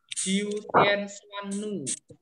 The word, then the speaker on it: Jiu Tian Xuan Nu: Dewa Jiu Tian Xuan Nu. Namanya coba diucapkan. Vigo bisa mengucapkan? Bisa, Romo. Oke, coba. Dewa Jiu Tian Xuan Nu.